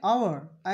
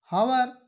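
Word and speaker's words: hour: यहाँ पर देखिए इसको हॉनेस्ट, हावर या हेयर नहीं पढ़ा जाएगा। क्यों? क्योंकि इसका पहला अक्षर जो है, लेटर जो है, वो साइलेंट हो गया है, इसलिए ऑनेस्ट, आवर, एयर।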